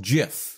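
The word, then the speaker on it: GIF: one we want to look at is called jiff it's not pronounced tag if it's jeff graphics interchange format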